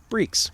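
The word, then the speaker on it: barrique: how that's pronounced and apparently it's pronounced breaks which basically means barrels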